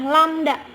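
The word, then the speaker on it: λ: dengan istilah landak Nah mungkin kamu aneh melihat ini ini dibacanya adalah lamda atau panjang gelombang itu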